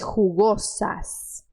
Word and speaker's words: rugosas: e rugosas isso aqui você vai colocar força nesse J rugosas e você vai ter que ter cuidado com esse eu aqui porque você vai querer abrir você vai querer dizer rugosas rugosas rugosas que estava ligadas aqui